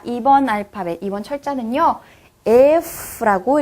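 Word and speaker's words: Ф: 자, 2번 알파벳, 2번 철자는요, F라고 읽어주시면 됩니다. F. 영어의 F 생각하시면 돼요. F. 치아와 입술이 닿아서 만들어지는 소리입니다.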